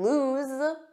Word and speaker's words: lose: another game so remember loose oo this means not tight or firmly fixed and lose Z lose this means unable to find